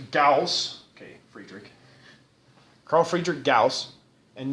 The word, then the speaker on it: Gauss: Carl Friedrich Gauss and notice how we pronounce his last name Gauss so many times I've heard people say gauze or something like that I've never figured out where they get gauze from that but it's Gauss okay so he realized